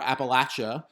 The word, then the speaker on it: Appalachia: Really, what it's about is people who live in Appalachia or Appalachia, as they would pronounce it, and how they speak their English.